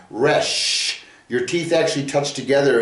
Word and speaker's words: Resh: And the Resh is a dental, okay, because you use your teeth to make this sound, Resh.